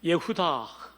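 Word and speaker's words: יהודה: 출산이 멈추어 떠라 이유다 히브리 말로 는 예후 다 라고 발음합니다 예부터 영어로는 주다 라고 발음합니다 우리말로 뜻을 옮긴 위한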